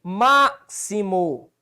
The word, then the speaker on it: máximo: Ok, máximo, 3 sílabas, proparoxítona, sim, olha onde é que está a sílaba tônica, ó. Máximo, antepenúltimo.